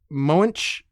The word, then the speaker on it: Moench: But, it's it's written by Doug Moench. I think that's how you pronounce the name, m o e n c h.